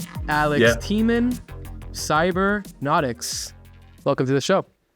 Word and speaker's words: Tman: So I'm very excited to have on the show Alex Tman, right? Is that the right way to say it? Yeah, that's right. Alex Tman, Psybernautics.